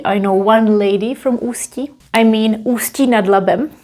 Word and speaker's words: Ústí: I know one lady from Ústí. I mean Ústí nad Labem on the north. You pronounce it this way, z Ústí, with a little tiny break in here. Znám jednu paní z Ústí.